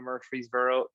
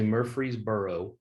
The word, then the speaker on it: Murfreesboro: asked several people how to say murfreesboro and a lot of people leave the r out most of the people that live there don't say the r but i'm like you